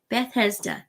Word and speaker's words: Bethesda: called in Hebrew Betha or Beth Beth Bethesda Bethesda say it right Bethesda having five porches in